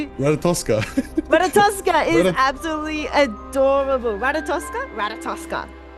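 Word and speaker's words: Ratatoskr: Ratatoska is absolutely adorable.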